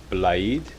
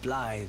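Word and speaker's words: Blaidd: for two reasons one is to ask about blade that's a funny name okay how do you pronounce his name there buddy ah then you met blythe did you light wonderful i'm glad i pointed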